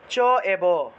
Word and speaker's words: চৈব: চৈব থাকলে চ এব, নৈব থাকলে ন এব, দৈব থাকলে দ এব, এভাবে উচ্চারণ করতে হবে। ঠিক আছে, অর্থাৎ ঐকার থাকলে সেটাকে এ রূপে ভাঙতে হবে, এ দিয়ে ভাঙতে হবে।